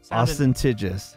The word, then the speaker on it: ostentatious: Ostentatious. Sound it out. Ostentatious. There's no G, dude. No G. It's just the last syllable. Ostentatious. No G. No G sound.